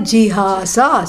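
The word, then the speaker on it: jihāsā: Both of them start with G and both of them end in sa, and only the middle syllable is different. One is gya for jnanam and the other one is ha for giving up.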